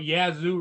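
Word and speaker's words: Yaesu: the other day everybody used to talk about yazu radios for ham radio Yu y a e s u a u s u yeah yeah yeah we pronounce it Yu Yu all of my radio GE upstairs is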